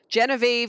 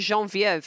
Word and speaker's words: Genevieve: EV not in French it's not Ash melon Genevieve is pronounced that way in English but it's pronounced Jean vo of in French and I learned it the name